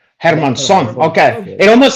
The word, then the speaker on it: Hermansson: Hermansson. Hermansson. Hermansson. Okay. Yeah. It almost sounds like Hispanic, like Hermansson. That's how Puerto Ricans will call you. They'd be like, that's Jack Hermansson. Oh, Yeah, Hermansson.